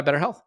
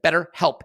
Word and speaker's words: BetterHelp: And this podcast is sponsored by BetterHealth. Look, BetterHelp. Pardon me. See, I need to say it right. BetterHelp. And people do make that mistake, so make sure you don't make that mistake. It's BetterHelp, H-E-L-P.